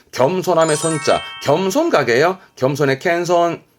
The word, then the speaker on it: 謙遜: 손자처럼 잘 따르는 겸손함의 손자 겸손 각요 겸손의 캔손 캔손 음독은이 정도면 될 거 같고요 동사로서 자신을 낮추고